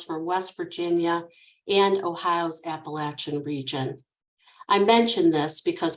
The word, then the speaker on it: Appalachia: been training myself to pronounce it like people from the southern areas of Appalachia prefer so you'll have to